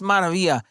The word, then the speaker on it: Maravilla: And I said, hey, look, it's pronounced Maravilla.